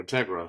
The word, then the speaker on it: Integra: don't mean anything like Integra or Integra sorry pronounced uh Spanish style there like yeah okay